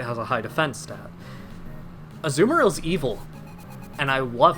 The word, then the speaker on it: Azumarill: though once it evolved into a zoom realm that's a weird way to pronounce azumarill but whatever azumarill has 50